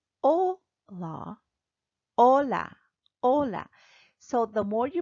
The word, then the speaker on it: hola: for example we'll go in number one hello hola the aged word in Spanish is silent so you will say oh la oh la Ola Ola so the more you practice the better